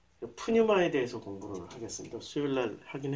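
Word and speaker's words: πνεῦμα: 요게 A고 요게 이제 T고, 그 거의 영어의 그 알파벳이 헬라어에서 많이 가져왔기 때문에, 그래서 요걸 N으로 읽으면 푸, 뉴, 마.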